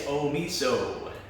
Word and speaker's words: Omeasoo: Yeah, it's actually, it looks more confusing when you just look at it, right? Yes, you know when I was just because like how it's spelt, it sounds Omeasoo, so people think it's Japanese, but it's actually First Nations. It's Cree. It's Cree First Nations, yeah.